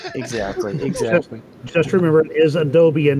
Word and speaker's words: Adobe: Oh, this is Adobe Premiere, and or Adobe, as I've learned that it's pronounced, but I just can't make my brain do it.